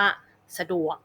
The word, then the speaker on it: สะดวก: น้ำ หนัก หรือ ว่า สะดวก นะ คะ จะ เน้น น้ำ หนัก เสียง ที่ ดวก สระ จะ ออก เบา ๆ ไม่ ลง น้ำ หนัก นะ คะ แล้ว